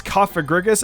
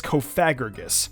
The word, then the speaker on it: Cofagrigus: I used to pronounce Cofagrigus as Cofagrigus.